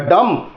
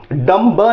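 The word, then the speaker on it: dumb: Are smart, you आर डम, डम ब नहीं बोलेंगे, ये भी मैंने बोला था प्रोनाउंसिएशन में, ये जो जहां पे जुबान लड़खड़ाएगी वो नहीं होगा, जैसे डम्ब नहीं होगा, डम डम, थंब नहीं होगा, थम थम।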